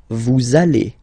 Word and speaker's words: vous allez: We'll have this little link between the two. Vous allez. Vous allez.